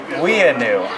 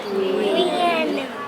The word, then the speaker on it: Weanu: This is called huckleberries, and we pronounce that Weanu. Do you guys want to try and say that? Weanu.